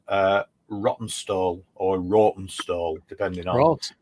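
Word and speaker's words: Rawtenstall: lived in um a little town called uh rotten stall or roten stall depending on yeah if you yeah r a w t n s l we call it rotten stall rotten stall if you really Posh so that's just north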